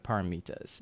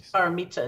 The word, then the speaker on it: paramita: But it's paramita in Sanskrit, parami. Okay. Paramis in Pali, which is the language of the original Buddhist text.